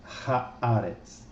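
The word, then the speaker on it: הארץ: Então, o que antes era Eretz, agora será Haaretz.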